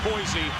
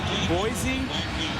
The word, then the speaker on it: Boise: Boise outside of Idaho. Okay. Boise within Idaho. All right. The locals say it's Boise. Everybody else on the face of the planet says Boise.